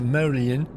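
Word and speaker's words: Medellín: Make sure you stay clear of Medellin, pronounced Medellin, the cocaine capital of Colombia.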